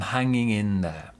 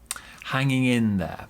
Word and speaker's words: hanging in there: in there pronunciation i'm hanging in there hanging in there big stress on in i'm hanging in there now one thing as